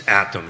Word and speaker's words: Attom: So the article you were referring to, I just wanted to make sure I got the pronunciation right. It's Attom, ATTOM.